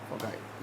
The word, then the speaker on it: foci: जैसे रेडियस का प्लूरल होता है रेडियाई, फोकस का प्लूरल क्या होगा, फोकाई, या फोकी भी लोग बोलते हैं, कोई फोकाई बोलता है, जैसा भी हो प्रोनाउंसिएशन।